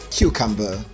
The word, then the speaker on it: cucumber: cucumber that's a nigerian pronunciation but the standard pronunciation for that word is cucumber cucumber cucumber for practice sake we're going to make